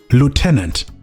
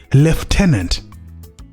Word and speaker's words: lieutenant: And by the way, the Americans pronounce this word as lieutenant, but the British pronounce it as left tenant.